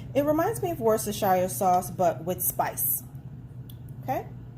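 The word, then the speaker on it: Worcestershire: it's kind of like it reminds me of worse the Shire sauce that I said it right russer Shire it reminds me of worse the Shire sauce but with spices okay then we're going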